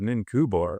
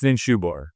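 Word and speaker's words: Ninshubur: But I remember the first time hearing, who the hell is Ninkubor or Ninkubura? Anyway, but it's Ninshubor. It's because that C is, anyway.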